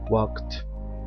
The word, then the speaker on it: walk: español caminar Walk walked walked walks Walking pongamos atención a la manera de pronunciar este verbo en W no suena la letra l es muda se escribe pero no suena Entonces no se pronuncia